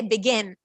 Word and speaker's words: begin: However, in begin, we will see where is the syllable. We don't say begin. We don't say begin. We say begin, begin, begin. When I say begin, so you hear a, the complete short sound of vowel.